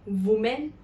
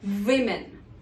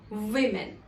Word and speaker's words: women: But do we say women? No. If you pronounce it as women, you are incorrect. The correct pronunciation is women. Here, the letter O actually represents the sound E. So it becomes women.